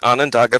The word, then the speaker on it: Onondaga: executive director of the tell me if i'm pronouncing this correctly onondaga okay onondaga public libraries in uh i think central new